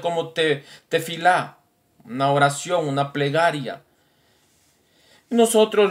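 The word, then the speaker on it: תפילה: La palabra plegaria que los judíos mencionan, más en hebreo, que se pronuncia como tefilá, una oración, una plegaria.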